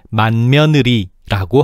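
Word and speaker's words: 맏며느리: 이처럼 비음화를 적용하지 않으려면 맛과 며느리를 끊어서 읽어야 하는데 너무 비효율적이야. 그래서 우리는 너무나도 자연스럽고 편하게 만느리라고 하지. 맛의 종성 디귿이 묘의 초성비음 미음을 만났네. 그래서 디귿이 비음 니은으로 바뀌어서 발음되고 있어.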